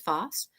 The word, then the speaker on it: Foss: hi my name is Mrs Foss and that rhymes with boss and what a good